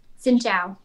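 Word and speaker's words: xin chào: we'll just start simple how do you say hello in vietnamese xin zhao let me i'm gonna see if i can repeat that xin chao xin zhao yes that's the respectful way to say it okay how do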